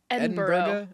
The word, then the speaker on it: Edinburgh: Is it Edinburgh? Is it Edinburg? Edinburgh. Edinburgh. Edinburgh. My brother was just telling me there's like more syllables than you think cuz it's not spelled bro.